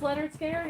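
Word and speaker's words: Lynyrd Skynyrd: already showed that one okay so this is pronounced leonard scared and it was the full oh is that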